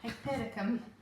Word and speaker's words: Hypericum: Hypericum. Oh, what? Hypericum. So it's spelled You said it.